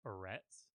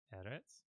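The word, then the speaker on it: אֶרֶץ: how it's actually pronounced it's not Moretz because that's how it looks in English its edits and you will notice that when people write it they will often put a little accent mark over the initial syllable the first syllable there because that that's different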